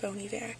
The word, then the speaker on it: Bon Iver: his songs on repeat, and it's Bon Iver, or it's spelled Bon Iver, like B-O-N, then Iver, I-V-E-R, but I think it's pronounced Bon Iver.